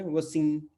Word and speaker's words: वसीम: वसीम। क्योंकि एम के पहले अगर कोई वोवेल आ जाता है तो एम और एन जो है नाक में रह जाते हैं।